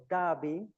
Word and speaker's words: Derby: Then we have uh this suff we find this suffix uh by but it's not pronounced by when we apply to a name uh to a noun. So we have the city of Derby in Darishia.